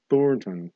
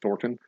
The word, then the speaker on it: Thornton: thor thornton florentin wilder you have to say it that that's the only way to properly pronounce that name thornton you gotta like lock your jaw and stick it on a little bit thornton otherwise it you swallow the end and it sounds like thorpen if you stick your